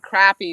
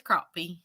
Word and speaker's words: crappie: saying crappy catfish and crappy does not sound right I always say catfish and crappie yeah because it is crappie well I think it depends on where you're from it is but we know how to say it right the right way though oh thank you